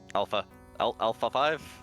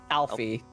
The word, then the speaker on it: Alfe: Alpha 5? Alfie. That's how you pronounce it.